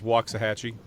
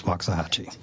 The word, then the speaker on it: Waxahachie: always want to say this incorrectly is it Waxahachie Jason you know what there's as many pronunciations as there are people uh the most usual pronunciations though is uh is is Waxahachie it's Waxahachie so you weren't yeah you weren't too far